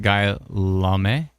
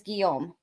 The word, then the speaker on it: Guillaume: Guy Lame? I think it might be Guillaume? I don't think you Guillaume? pronounce the L's. I think it's Guillaume. Oh, Guillaume?